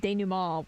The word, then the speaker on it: denouement: Like, it sounded like her, stressing of denouement was completely wrong. Not to mention, It is she time.